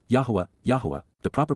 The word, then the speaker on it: Yahweh: growing again these would be weeds and W Yahweh Yahweh the proper pronunciation of the name of eloah God as